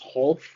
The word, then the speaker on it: Wholf: The W is silent. I'm going to call him, try to remember to call him Wholf. That is his new pronunciation of his name.